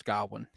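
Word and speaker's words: Gawain: to reset my brain when remembering how to pronounce gowin gowin g gowin gowin go is It Go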